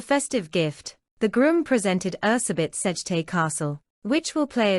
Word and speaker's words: Erzsébet: Elizabeth, though more accurately pronounced Erzsébet, was born in 1560 in Hungary.